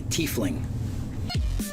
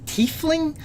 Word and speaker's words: tiefling: And welcome to another edition of What Does Your Race Say About You, the Tiefling?